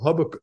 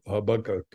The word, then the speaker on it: Habakkuk: the line out of Habakkuk. I'm pronouncing it wrong. Habakkuk.